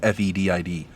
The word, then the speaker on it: fetid: I'm fetid, I believe, would be how it's done. Because I look it up on Google, it says FET-ID, and the pronunciation is FEDID.